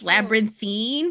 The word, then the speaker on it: Labyrinthine: Yeah, it's like Labyrinthine, but I just pronounce it as Labyrinth.